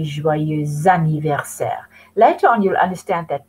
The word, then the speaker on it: joyeux anniversaire: But because joyeux ends on an X, you take it over to the A and you say joyeux anniversaire.